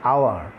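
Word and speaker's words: hour: দেখতে পাচ্ছি আমরা, যে আওয়ার। এখানে হাওয়ার বলে নাই, বলেছি আওয়ার, ওর উচ্চারণ করেছি, বাউলের উচ্চারণ করছি, দ্যাটস ওয়াই আমরা এখানে কি বসাবো, অ্যান আওয়ার বসাবো।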